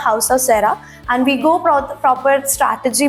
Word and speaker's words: House of Caera: We change the name and नाउ we pronounce the हाउस ऑफ सेरा and we go proper strategy, brand strategy.